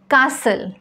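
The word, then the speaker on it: castle: व्हिडिओमध्ये आपण शिकणार आहोत वर्ड्स विथ सायलेंट टी असे शब्द ज्यांच्यामध्ये टी हा लेटर आपल्याला उच्चारायचा नाही आहे कासल Christmas फासन match हसल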